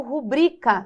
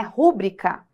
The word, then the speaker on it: rubrica: recorde caracteres filantropo pudico rubrica não é rubrica proparoxítonas aqui mas a prosória se estuda esse tipo de fenômeno que a gente olha a palavra que é pronunciar rubrica mas é rubrica tá ó isso aqui